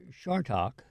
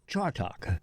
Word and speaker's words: Chartock: missed pronounce my name it's either shark talk yes or chart talk and I must say there are many people you don't get the difference one is an S sound so what is it